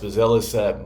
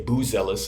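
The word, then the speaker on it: Buzelis: that think that monis bazis might be uh the best rookie in the class and I should say buellis I'm sorry I said his name wrong but modest buellis a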